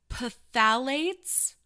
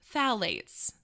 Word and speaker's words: phthalates: to pronounce this wrong pathalates phthalates there's a silent p i think we'll go with phthalates um so phthalates might